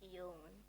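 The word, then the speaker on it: Uwland: How do you pronounce his surname? Zeke Euland. Zeke Euland.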